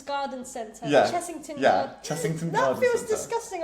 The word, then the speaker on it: Chessington: It's a double S.